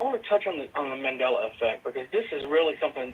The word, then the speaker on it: Mandela: Mandala or Mandela? Mandala? Mandela effect. Mandela effect.